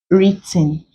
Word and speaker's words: written: words like right wrong written you do not pronounce the W there so we have Earth